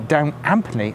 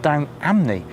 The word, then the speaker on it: Down Ampney: in the village and they definitely pronounce it with the p so I'm emphasizing that it's definitely down amply and not down amni with the silent p